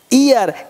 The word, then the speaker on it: heir: और और मतलब घंटा ईयर मतलब उत्तराधिकार हेयर नहीं बोलेंगे क्लियर मतलब उत्तराधिकारी आप